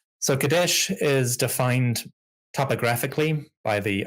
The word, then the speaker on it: Kadesh: So Kadesh is how we would generally pronounce it in Egyptological pronunciation. For the Hittites called it Kinza, but the Egyptians seem to have called it Kadesh or Kidshu, something like that.